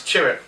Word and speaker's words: Chirrut: It's hard to pronounce. Chirrut. Chirrut was great.